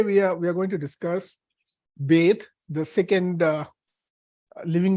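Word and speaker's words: בית: And Beit is pronounced as, it's not pronounced as Ba, but the letter itself has a name. It's called Beit.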